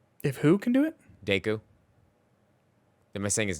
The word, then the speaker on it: Deku: do well like that but hey if if daco can do it I can do it too if who can do it Deku they're missing his name wrong Deku diku what